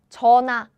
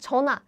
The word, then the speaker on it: 전화: Korean H sound is very weak. So what happens is they pronounce it like 전화, 전화, 전화, 전화. Very good. Brianna, very good. 전화.